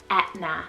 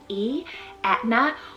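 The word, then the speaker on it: Aithne: and to me it's very similar to the pronunciation of the italian volcano mount aetna so you can really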